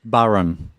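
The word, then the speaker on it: bodhrán: and we pronounce it Barham that's a Gaelic name so that's the frame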